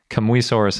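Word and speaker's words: Kamuysaurus: and I can be pretty confident in that pronunciation and especially fun thing about it is Kamui Soros is that really complete hadrosaur that we had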